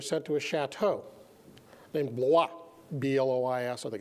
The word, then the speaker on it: Blois: Officers who were relieved were sent to a chateau named Blois, B-L-O-I-S, I think it's spelled. But the Americans hacked it up and they pronounced it Bluey.